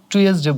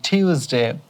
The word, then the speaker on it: Tuesday: এবার এইটা অনেক সময় আমরা টুয়েসডে বলি, টিউসডে। তো উচ্চারণটা হবে টিউসডে, টিউসডে, টিউস, টিউএস, টিউএস।